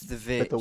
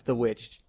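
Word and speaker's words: The VVitch: the it's the vic yes spelled like that but it's the witch some people only jokingly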